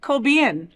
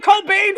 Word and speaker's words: Cobian: Thank you so much to Jason Cobian. Yes. I said it right. I've been calling him Cobain for years.